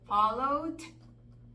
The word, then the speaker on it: followed: es que, como dijimos, la letra E es muda, entonces a veces no alcanzamos a distinguir porque se oye un poquito apagada la pronunciación. Followed. Muy parecido al Se presente. oye como si fuera presente.